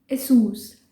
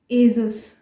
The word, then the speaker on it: ASUS: इसको हम गलत कैसे बोलते हैं? एजस। एजस, कई लोग इसको एजस बोलते हैं, बट असूस कंपनी ने खुद ही अपने ब्रांड की सही प्रोनाउंसिएशन उन्होंने एक सॉन्ग बना के दिखाई हुई है जिसमें वो बोल रहे हैं इसको एसूस।